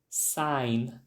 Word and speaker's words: sign: placa de sinalização e na pronúncia não tem o som do G sign o exemplo The Sign